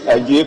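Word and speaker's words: Adjei: My name is Ajay Kwesi, Member of Parliament for New Jabino. But the Ajay is spelled wrongly. My Ajay is A-D-J-E-I.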